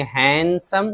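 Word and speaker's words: handsome: पढ़ेंगे हैंनकचीफ बोलेंगे रुमाल इस तरह हैंडसम बहुत मशहूर लफ्ज़ तो यहां भी डी है लेकिन डी को नहीं पढ़ेंगे। हैंडसम खूबसूरत सैंडविच सैंडविच नहीं सैंडविच डी साइलेंट है।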